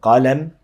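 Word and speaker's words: قلم: Okay, the word qalam, you know that the qaf has a fatha and the lam has a fatha, and then there's the meme, and that word means pen.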